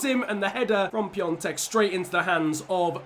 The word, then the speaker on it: Piontek: Like, I'm not going to lie, if there's anyone Polish watching this, the N sound, I mean, there's just not an N in his name, so that's pretty much the reason.